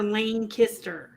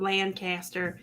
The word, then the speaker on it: Lancaster: pronounce it lancaster or lane kister lancaster wayne kister we're the only ones that pronounce it that way because we're pennsylvania dutch to amish so you